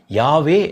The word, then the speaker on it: யாவே: அதுவும் கூட பார்த்தீங்கன்னா அவர்களுக்கு எப்படி வெளிப்படுத்தப்பட்டதுன்னா YHWH என்று தான் வெளிப்படுத்தப்பட்டது. வவ்வல்ஸ் இல்லாத ஒரு வார்த்தையை நம்ம உச்சரிக்க முடியாது. அதை என்ன செய்தார்கள், இடையில 2 வவ்வல்ஸை சேர்த்து யாவே என்று வைத்தார்கள்.